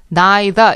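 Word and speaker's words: neither: 똑같은 단어다 그래고 생각하시고요 더는 영국식으로 발음할 때 나이다 이렇게 발음이 되거든요 그러니까 두 가지 발음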